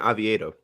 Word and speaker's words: Oviedo: Perhaps the guy they're going up against, Oviedo, is that how you say his name? Johan Oviedo, yes.